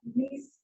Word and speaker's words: gneiss: Granite पासून नीस याचा उच्चार स्पेलिंग GNEISS, पण त्याचा उच्चार नीस असा करतात.